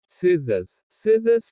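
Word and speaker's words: scissors: C is silent in SC combinations. जब C SC शब्दों में आता है तो C का उच्चारण नहीं होता। सीन दृश्य। साइंस विज्ञान। सिजर्स कैंची।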